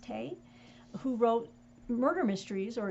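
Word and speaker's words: Tey: joseph and josephine tay i believe it's pronounced tay who wrote murder mysteries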